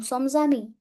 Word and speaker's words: sommes amis: Nous sommes amis. Nous sommes amis. S will overlap the sound of A. Nous sommes amis.